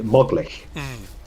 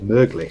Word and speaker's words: möglich: If you didn't have the umlaut there, you pronounce it as moglich. So Yeah. that's how it goes. But because the umlaut's there, it's möglich. So Möglich. an O umlaut makes it sound like saying möglich.